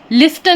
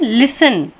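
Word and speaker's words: listen: लास्ट में सी match लिसन लिस्टन नहीं पढ़ते हम उसे लास्ट में टी एन है इसलिए टी साइलेंट हो गया है इसलिए हम इसे लिस्टन नहीं पढ़ते हैं लिसन सुनना कैच टीसीएच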